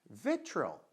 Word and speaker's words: vitriol: Sílaba forte, vitriol, tá? Lembra do som de que é o Ezinho de cabeça para baixo, né? Então, olha lá, o O vira som de beleza?